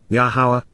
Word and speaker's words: Yahowah: honorable and exalted dwelling place to approach La yahwah yahwah the proper pronunciation of the name of our eloa God